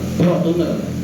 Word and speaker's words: Fortuner: Aduh ngayal, saya ngayal pengen punya mobil Pajero Sprott, pengen punya mobil Fortuner bacanya Fortuner.